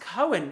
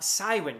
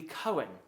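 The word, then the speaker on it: Cywen: it would be pronounced cohen in welsh for the hard c not cywin as i'm sure probably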